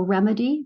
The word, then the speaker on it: remedy: So remedy, remediate. How does the sound change? Have your children put it into words. It's a short vowel sound in remedy. It's a long vowel sound E in remediate.